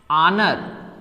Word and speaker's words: honour: तो यहाँ पे भी यच क्या है, साइलेंट है। यच क्या है आपका, साइलेंट है।